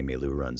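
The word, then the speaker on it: meiloorun: white board with them trying to phonetically show us how to say me lou runs so we wouldn't screw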